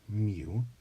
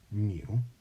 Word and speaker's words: mu: so we pronounce that mu it's not an M it's a mu and this means population